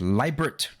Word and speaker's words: Libert: the first one says it's libert pronounced like Liberty but no why and not like Gilbert I know um now